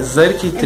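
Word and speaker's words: Xurkitree: Só que a pronúncia é Zerktree.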